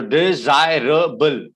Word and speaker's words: desirable: So desirable. That's how you pronounce the word. Desirable. So A is a different stress of syllable. That's why it's a four syllable word. Okay. Desirable. You can see from the sound there are 4 sounds that you make. You don't make 3 sounds.